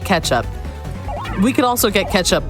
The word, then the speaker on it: Catsup: It's spelled Catsup, but you say it ketchup.